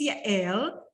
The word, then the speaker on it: Yael: My name is Yael. That's how you pronounce it.